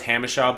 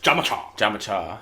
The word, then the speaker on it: Jamacha: some of the names, it's always Hamishaw, but it's Jamacha.